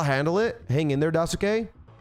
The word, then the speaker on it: Daisuke: Hang in there, Dasuke. Suke is pronounced Ske. Daisuke? Daisuke?